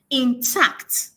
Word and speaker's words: intact: So there is more power or there is more emphasis on the second syllable. Now I pronounce it intact.